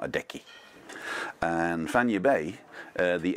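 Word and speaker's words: Fañabé: accent on it, so that's where the word actually has the accent at the end. So it's Fanya Bay, like San Francisco Bay.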